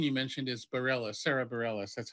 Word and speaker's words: Bareilles: Sarah's the musician you mentioned is Barela Sarah Bareilles that's how she pronounces it Thank You thing yeah that thing